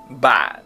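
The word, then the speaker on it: bạn: Premier mot, ban. C'est-à-dire qu'on fait ban, mais le ton il chute complètement. Donc c'est avec la glotte.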